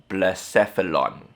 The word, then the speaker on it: Blacephalon: Okay, I remember how to pronounce it. Blacephalon.